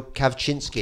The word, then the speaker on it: Kawczynski: Next up, you had our wonderful British but Polish-born MP Daniel Kaczynski. Daniel Kawczynski. Kawczynski. Aren't you impressed that I can pronounce his name?